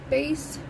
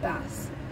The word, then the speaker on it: Bass: Happily and Madly by Alexis Bass. Or is it Bass? Could be either one. It's pronounced both ways. Bass is the fish, bass is a guitar.